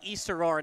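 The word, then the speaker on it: East Aurora: the way it's it's it's pronounced East aora not aora East I don't know why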